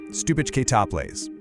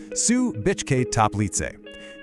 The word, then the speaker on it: Stubičke Toplice: Let's get the name right. Stubičke Toplice. Say it with me. Sue-bitch-kay-top-lee-tseh.